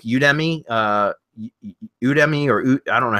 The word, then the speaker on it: Udemy: Plus, you can also go to like Udemy, Udemy, or I don't know how to pronounce it, but it's UDEMY.